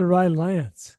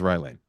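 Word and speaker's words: Rye Lane: misspell that Ry Lane you said Ry Lance yeah it's Ry Lane thank you for catching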